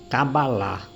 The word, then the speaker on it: cabalá: nós aqui chamamos de cabala lá eles chamam de cabalá eles alongam o final eles ya ya ya